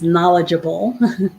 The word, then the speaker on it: knowledgeable: screen the word knowledgeable a lot of those letters at the beginning are um silent i'm gonna go ahead